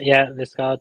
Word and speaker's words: Liskeard: I'm going to butcher trying to pronounce this now, aren't I? Liskeard? Yeah, Liskeard, yeah.